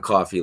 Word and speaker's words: Coffey: beginning of the movie, he says John Coffey, like the drink, just not spelled the same.